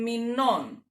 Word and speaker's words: μηνών: The difference is that, especially here in two-syllable noun, because here the accent in plural drops into the second, into the last, from second to last to last syllable, as we decline it.